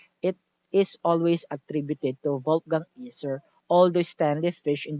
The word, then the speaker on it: Wolfgang: W kasi pinopronounce as V, di ba? Kaya Wolfgang Iser.